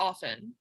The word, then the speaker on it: often: say often often yeah it says don't pronounce the t and often it's silent so we're right this